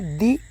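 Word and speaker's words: the: दी Amazon.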